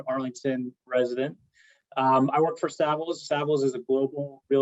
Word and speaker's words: Savills: Did I pronounce that correctly? Savills.